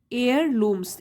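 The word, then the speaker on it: heirlooms: and family एयर लूम्स एयर लूम्स इसमें भी as silent है इसको बोलेंगे एयर लूम्स यह नाउन है इसका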